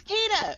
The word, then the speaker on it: Keita: Well, Keita, or how do you say Keita? It's Keita.